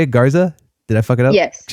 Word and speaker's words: Garza: Is that how you say it, Garza?